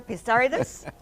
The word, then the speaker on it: Pissarides: Professor Christopher Pissarides, he taught me how to pronounce his name, for the year 2010, the latest among you all.